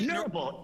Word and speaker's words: Neurable: Did I pronounce it Neurable? Is that right? Neurable.